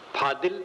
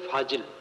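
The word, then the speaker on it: फ़ाज़िल: विद्वान भी होता है फाजिल फादिल जिसको अपभ्रंश में फादिल कहते ये चीज फादिल है शुद्ध शब्द है फाजिल फाजिल नाम अतिरिक्त और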